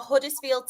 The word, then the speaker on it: Huddersfield: She has gone for Huddersfield Town. Before you come at me, I did pronounce my H.